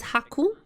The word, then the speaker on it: Haku: 9 is Q in Japanese. That's how Haku comes. Pronounced as Haku.